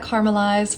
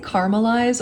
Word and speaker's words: caramelize: I'm first adding in the onion, gonna let that caramelize for a little bit. Do you guys say caramelize or caramelize? Is it a 3-syllable word or a 4?